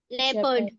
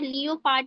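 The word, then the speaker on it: leopard: मतलब होता है खतरा ओ जो होता है ओ का साउंड साइलेंट हो जाता है ओ का साउंड आपको कहीं मिल रहा है प्यूपल नहीं बोल रहे हैं हम उसको झोपडी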